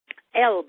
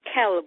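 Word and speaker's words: قلب: Elb or kalb starts out with a Q. Oh, that's a funny sound to us English speakers. And most of the time, and in the Egyptian songs, it's Elb, A-L-B.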